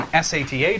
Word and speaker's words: SATA: be for sat drives SATA yep well no sat you said it right the first time Serial ATA okay drives